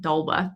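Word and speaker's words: d'Alba: They have a lot of good products, but this is pronounced Dalba, by the way.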